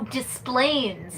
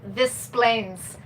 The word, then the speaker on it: Des Plaines: Oh, Displains. Yep. That's I thought how it it's was. pronounced. I thought it was like this Plains.